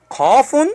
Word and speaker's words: قاف: So Qafun is pronounced with letter Q.